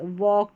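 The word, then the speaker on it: walk: Number 43 पर है ए एल के। इसको ऑक करके पढ़ेंगे। एल साइलेंट है इसलिए वॉक टॉक चॉक और यह है स्टॉक सी एच को च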